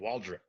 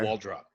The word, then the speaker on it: Waldrop: he's he's been saying Waldron instead of wall drop okay wardrobe okay so like putting an n on it instead of a p or like uh kind